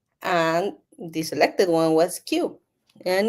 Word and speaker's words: Kiu: everything uh and if when you pronounce it it sounds like a little bit a little bit like Q like it's so cute so that's why the